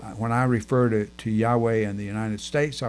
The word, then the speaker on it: Yahweh: shy about saying it uh and they say Yahweh which like I said is the correct pronunciation now why am I telling you all